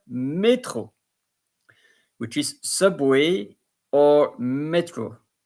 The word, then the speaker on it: métro: So if there will be no accent in there, it would be métro. But here you pronounce the accent métro, which is subway or metro, or probably also underground.